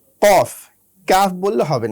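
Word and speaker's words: ق: সুপ্রিয় শিক্ষার্থীবৃন্দ, আমাদের পরবর্তী হরফ হচ্ছে কফ। কফ উচ্চারণ করতে হয় জিহ্বার একেবারে গোড়া থেকে। কফ, কাফ বললে হবে না, বলতে হবে কফ।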